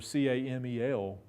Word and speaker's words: Campbell: Christ as Campbell i'ts in those days they pronounced it they pronounced Campbell as if it were ca mal and so they called them camel IDEs and that and you